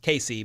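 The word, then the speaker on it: Kaci: not uh surprised yeah we spelled it differently but it's definitely pronounced Casey but it's k a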